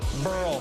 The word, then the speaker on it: Burrell: Pat Burrell, rhymes with Pearl.